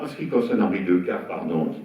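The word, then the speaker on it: Decaë: Alors, en ce qui concerne Henri Decazes, pardon, on dit Decazes, on ne prononce pas le « on dit comme on veut.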